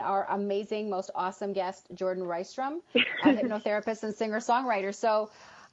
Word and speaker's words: Jourdan Rystrom: and it's Jordan rice drum and even if you spell it wrong I've actually got Google Google will